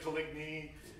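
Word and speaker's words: Coligny: you can say french i've been taught it's kalini but who knows but some say coligne however you choose to pronounce it that is the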